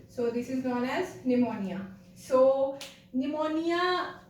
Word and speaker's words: pneumonia: am saying it as pneumonia. Actually the P here is silent, so this is known as pneumonia.